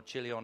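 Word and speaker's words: Chilion: ALC and they had two sons Maron and kilon or chilon however you want to pronounce it and there was a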